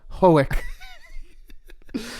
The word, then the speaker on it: Hoek: people would pronounce it like Ren Hook, Hoek.